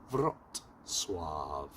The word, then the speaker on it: Wrocław: En fait on on prononce pas Vrocla mais on prononce Vif ou un truc comme ça. Je vais vous dire ça tout de suite. Vot soave. Vrot swif.